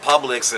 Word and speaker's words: Publix: anything yeah I know it's called Publix and like it's rhymes with public but let's keep this